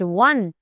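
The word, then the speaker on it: one: However it is pronounced वन like it starts with a डब्ल्यू।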